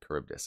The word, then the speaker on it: Charybdis: it celia sila and uh charybdis that's it charybdis okay anyways that's neither here nor there my pronunciation is known to be terrible and i